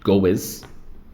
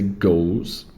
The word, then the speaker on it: goes: Cuidado com a pronúncia, eu vejo muitas pessoas falando goes, mas é goes.